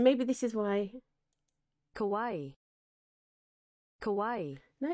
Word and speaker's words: kawaii: maybe this is why kawaii kawaii no it's still the same it's three syllables okay cookie the whole